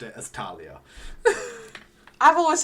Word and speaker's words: Thalia: it and I know that's how Rick Rearden pronounces it I know he says Thalia but I have always thought it as Talia